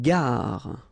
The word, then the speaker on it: gare: Une gare. Okay, remember when you get these G and A together, the sound is g, ga, ga. Une gare. Final E not pronounced.